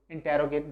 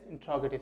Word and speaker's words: interrogative: Again, I am telling you the pronunciation of it, that is not interrogate, that is interrogative sentences.